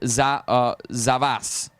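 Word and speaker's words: за вас: Go with zavas. To you say zavas.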